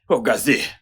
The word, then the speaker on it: Ogazi: Moi, maître Chukwudi Ogazi, représentant de l'accusé. Ogazi s'écrit O-G-A-Z-I.